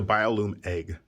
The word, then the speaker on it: Biolume Egg: a bio bio loom i said it wrong i said bio flume didn't i it's the biolume egg when you sacrifice biolume